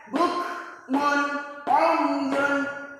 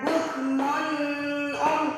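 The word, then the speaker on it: بُكْمٌ عُمْيٌ: membacanya Gimana kalau izhar cara membacanya jelas kita Contohkan salah satu contohnya bukmun umyun gak boleh bacanya bukmunum tidak boleh kenapa Karena di sini ada tanwin bertemu Ain Ain salah satu huruf Izhar menjadi bacaannya jelas jadi izhar harus jelas baik anak-anak kami yang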